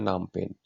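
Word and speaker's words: Phnom Penh: इसका कैपिटल क्या है नाम पेन यहां पर पीएच साइलेंट होता है तो इसे बोलते हैं नॉम पेन अच्छे से याद रखना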